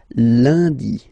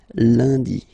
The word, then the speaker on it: lundi: Okay, remember, UN is pronounced like un, lundi, lundi, lundi.